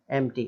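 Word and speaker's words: empty: तो इसमें भी टी से पहले पी आ रहा है तो एम्प्टी ऐसा नहीं बोलेंगे, केवल एम्प्टी, एम्प्टी खाली, है ना, एम्प्टी, इट्स एम्प्टी ऐसा।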